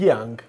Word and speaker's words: Jiang: you just mentioned that your name is Jang actually but it's pronounced as Yang if you pronounce it yeah